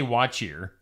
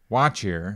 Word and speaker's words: What Cheer: mean I I say watch here watch here if you've been around long enough you just say watch here okay but it look